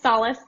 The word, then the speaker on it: Salas: I've been literally researching for 40 minutes to try to make sure I don't mispronounce it, and I definitely Salas. Well, yeah, it's Salas.